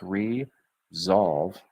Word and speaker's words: resolve: I helped resolve, there's that Z sounding S, resolve challenges.